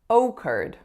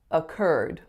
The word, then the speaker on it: occurred: was when I said Oh curd Oh curd in actuality we put a schwa on that oh and we stress the second syllable so it becomes occurred occurred so that whole